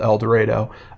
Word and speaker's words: El Dorado: pronounce that right uh in Arkansas it's called elero elero Jane do actually is